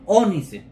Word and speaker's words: ónice: voy a chequear eso onice acento en la o entonces lo que está